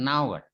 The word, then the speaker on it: hour: Seperti ini juga meskipun H itu konsonan sebetulnya, tapi kan bacanya kayak vowel atau vokal, jadi pakai an hour. Itu kalau hour ya nggak enak, an hour, nah kan enak. Sama ini, ya ini juga